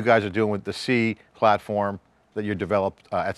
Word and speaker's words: CI: You got a product called C, CI, it's labeled C and an I called C, pronounced C.